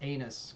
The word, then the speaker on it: Agnes: You guys all refer to me as Agnes because that's pretty much what everyone refers to me as Agnes. But my mother actually gave me this name, and it's actually pronounced anus because the G is silent.